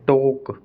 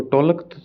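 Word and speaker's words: talk: एल के में एल हमेशा साइलेंट रहता है स्पेलिंग के लास्ट में जैसे टोक अब इसको टोलक थोड़ी बोल रहे हैं अपनी वोक टोक चोक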